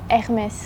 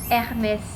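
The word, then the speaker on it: Hermès: เอส ค่ะ Hermes Hermes ทำไม อัน นี้ ออก เสียง ตัว เอง สุด ท้าย ปกติ นะ ฝรั่งเศส นะ บาง ที ก็ จะ ไม่ ออก ตัว สะกด มึง ก็ จะ กด เป็น ตัว สุด ท้าย ไม่ ออก เสียง แต่ นี้ มี S 60 S ด้วย มัน ออก S เพราะ ว่า มัน เป็น ชื่อ ถ้า เป็น แบบ World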